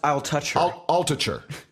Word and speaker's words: Altucher: I think it's pronounced I'll touch her. I'll touch her.